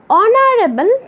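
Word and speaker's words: honourable: অনারেবল person মানে সম্মানিত ব্যক্তি, তাহলে এই যে এইচের উচ্চারণ কিন্তু এইচের মতো হয়নি, ঠিক শোনা যাচ্ছে এর মতো, অনারেবল পারসন। এই শব্দটাতে এইচের উচ্চারণ না হয়ে ও এর উচ্চারণ হয়েছে, আর ও যেহেতু ভাওয়েল তাই তার পূর্বে অ্যান বসেছে।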